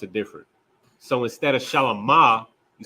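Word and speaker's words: שלמה: So his name is Shalamah in the Hebrew. It's just Shalom with a ha there.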